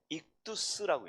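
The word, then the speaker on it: ΙΧΘΥΣ: 이게 헬라어로 어떻게 되냐면 이걸 익두스라고 읽습니다.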